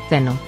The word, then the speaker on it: Tenoh: ninguno está erróneo pues puedes pronunciarlo como teno pero lo puedes escribir con una H al final o una u Así que no tienen